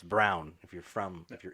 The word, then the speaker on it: Braun: always forget her name you pronounce her name braun in america or if you're in the west but it's it's brown if you're from if